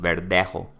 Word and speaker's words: Verdejo: In Spanish, right? That's like his pronunciation, the technical pronunciation, Verdejo.